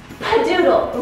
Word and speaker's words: Padoodle: Padoodle rhymes with skadoodle.